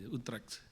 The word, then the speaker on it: Utrecht: Ejaannya bagaimana, Frater? Aduh, UTRCHT, Utrecht, Utrecht, Belanda.